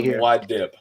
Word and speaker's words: Muad'Dib: Mike, let's go into the Muad Dib. Muad'Dib is actually how it's pronounced.